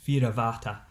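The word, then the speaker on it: Fear a' Bhàta: that's called The Boatman, or in Gaelic it's pronounced Fira Vata, and it's a sort of lovely, beautiful, lamenting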